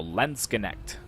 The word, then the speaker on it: Landsknecht: And I was pronouncing them Landsknecht, but I found a pronunciation that seems to lean more towards Landsknecht. So basically pronouncing almost all of the letters except for the last E.